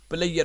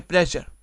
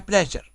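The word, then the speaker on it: pleasure: Certainly, certainly, it's مائی پلیجر. دیکھیں پاکستان میں زیادہ تر لوگ، میرا خیال ہے 95% لوگ پلیئر بولتے ہیں، جو کہ تلفظ کے اعتبار سے غلط ہے. سرٹنلی اٹس مائی پلیجر، آپ نے بولنا کیا ہے؟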